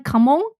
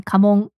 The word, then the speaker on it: kamon: Kamong. K A M O N. Kamong.